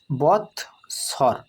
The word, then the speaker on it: বৎসর: বৎসর বৎসর, অর্থাৎ বয়ের সাথে খণ্ডিত যোগ হয়ে বৎ হয়েছে, আর দন্তেশ্বর স্বর, অর্থাৎ একসাথে উচ্চারণ করলে উচ্চারণ হবে বৎসর, তাই একে ভেঙে ভেঙে উচ্চারণ করব আমরা।